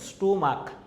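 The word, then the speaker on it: stomach: যেমন হচ্ছে স্টোমাক, স্টোমাক, দেখো স্টোমাক, ক আসে উচ্চারণটা, স্টোমাক হচ্ছে মোনার্ক, হ্যাঁ সিএইচ আসে কিন্তু কর মতো উচ্চারণ আসে মোনার্ক, এরকম আসে।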